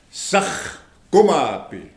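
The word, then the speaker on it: saahkomapi: It's a 3-syllable word. And then remember the H? You see it right here? S-A-A-H. You say sakh.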